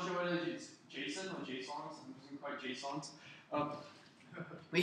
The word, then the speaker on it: JSON: the Su about what it's supposed to be pronounced I thought it's pretty stupid but it's called Json okay so the next like oh oh so